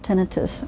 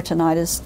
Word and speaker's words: tinnitus: and you can also develop tinnitus or tennitus, it's pronounced either way, uh from noise induced hearing loss.